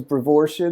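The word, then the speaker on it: Brevoortia: Uh the the pronunciation is brevoria.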